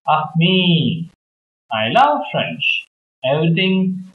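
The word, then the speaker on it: ami: say friend in French the word is Amy my mom says you say it like this of me I love French everything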